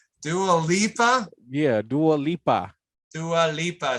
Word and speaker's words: Dua Lipa: Was this the Delupa Dialupa? Why can't I never pronounce her name right? Dua Lipa.